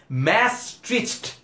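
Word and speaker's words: Maastricht: করতে পারি না ট্রাস্ট মি অনেক কঠিন একটা উচ্চারণ ম্যাস্ট্রিচ এরকম হচ্ছে এটার উচ্চারণী ম্যাস্ট্রিজ ট্রিটি এটির উপর ভিত্তি করেই কিন্তু ইউরোপিয়ান ইউনিয়ন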